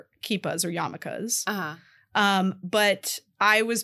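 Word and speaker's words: yarmulke: so we called them so in the movie they call them yamakas a lot and they're it's spelled yarm so like if you've ever seen like yarm written that's they're saying yamaka there's a lot of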